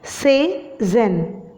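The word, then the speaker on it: Cézanne: Okay, you need to pronounce it as Cezanne.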